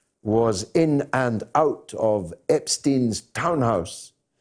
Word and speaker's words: Epstein: beginning, when most people didn't know how to pronounce his name, and some people still don't. It's still a controversial matter. It's Epstein, Jeffrey Epstein.